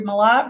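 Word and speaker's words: Malott: So as I said, my name is Malat, Professor Malat, and that's how you pronounce it. It's like the word a lot, only with an M in front of it.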